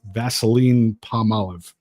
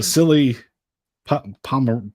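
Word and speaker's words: Vasily Ponomarev: One of the guys they got from Carolina, Vaseline Palmolive, I think is his name. I'm sure that's not how you say his name. I doubt that. That's right. That's so good. Terrible pronunciation. Vasily Pomerev.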